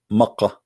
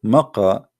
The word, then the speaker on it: Makkah: Sorry, for the people of Quraysh, they pronounce the letter Qa as Ka in such places, like in this case here, Mecca. So all what they do, they switch the letter. So Makkah became Mecca.